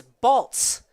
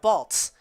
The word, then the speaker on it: Baltz: in the chat that it is balts like a like Waltz but with a B Blake baltz that is good to